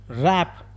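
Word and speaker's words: wrap: ಹನೆಸ್ಟ್ ಅಂತ ಪ್ರೊನೌನ್ಸ್ ಮಾಡಬೇಕು ರಾಪ್ ರಾಪ್ ಅಂದ್ರೆ ಇಲ್ಲಿ ಡಬ್ಲ್ಯೂ ಸೈಲೆಂಟ್ ಆಗುತ್ತೆ ಡಬ್ಲ್ಯೂ ಬಿಟ್ಟು ಆರ್ಎಪಿ ನ ಮಾತ್ರ ಪ್ರೊನೌನ್ಸ್ ಮಾಡಬೇಕು ಇದನ್ನ ನಾವು ರಾಪ್ ಅಂತ ಕರಿಬಹುದು ರಾಪ್ ಅಂದ್ರೆ ಸುತ್ತು ಅಂತ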